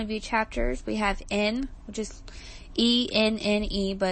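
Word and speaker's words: Enne: We have N, which is E-N-N-E, but it's pronounced like the letter N, and then Levi.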